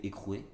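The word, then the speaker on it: Heycrew: Donc, ça ne s'écrit pas écrou comme le mot en soi-même, ça s'écrit H-E-Y-C-R-E-W.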